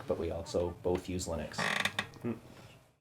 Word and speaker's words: Linux: Not only do we do commentary tracks for Star Trek, but we also both use Linux. Or Linux, if you pronounce it that way.